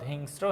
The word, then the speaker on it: হিংস্র: বসে যেমন হিংস্র হিংস্র উচ্চারণটা পাতলা হলে কি বসে দন্তস্য বসে হিংস্র হিংস্র এই জায়গায় দেখো স্বাগত স্বাগত ঔষধ আর হিংস্র এই জায়গায় হিংস্র মানে সংক্ষেপে র টা বেশি উচ্চারণ হচ্ছে স টা পাতলা ভাবে উচ্চারণ হচ্ছে এইজন্য